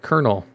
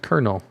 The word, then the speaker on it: colonel: you know it's like kernel it's spelled colonel but it's pronounced kernel or uh i don't